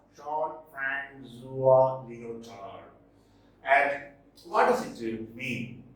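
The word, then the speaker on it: Jean-François Lyotard: This is pronounced Jean-Francois Lyotard.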